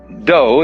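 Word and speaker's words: dō: the science of judo do is the way the japanese pronounce dao ju means gentle judo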